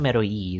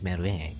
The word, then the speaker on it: Merui: Not Merui, is Merue.